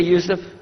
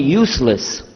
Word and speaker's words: Yusuf: Do you say Yusuf? You say Yusuf. Yeah, very good. I wish you'd teach my wife. She keeps mispronouncing it. She calls me useless.